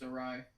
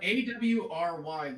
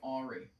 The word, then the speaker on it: awry: I'm really upset that that's pronounced awry. As opposed to, how else would you pronounce it right? A-W-R-Y looks like Ari.